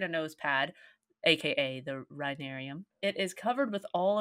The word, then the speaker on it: rhinarium: was it is the rhinarium how do you spell that r h i n a r i u m rhinarium I have never heard that word in